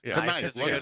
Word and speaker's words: knife: Because you and I got the exact Why is the K there knife? It's either knife or knife.